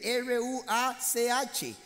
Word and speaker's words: ruach: Ok, esta palabra aliento de vida es la palabra en el hebreo, se llama ruach, así se escribe, R-U-A-C-H, que se pronuncia ruach.